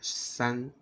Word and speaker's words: 三: How to pronounce 3 in Chinese? That's right. 三, 三, 13, 13.